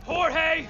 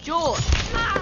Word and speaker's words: Jorge: one up gets it Jorge my name's pronounced George don't you back talk